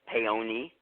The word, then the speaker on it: Paone: uh-huh all right one it's actually pronounced pay oniy okay Oney okay instead of Callias on the top yes I'm Italian so okay yeah I would say though that that pay own is probably the most common mistakenly way to say my name but with - I'll pay oniy because in in Italy in Italian they don't have silent ease like we do and you know into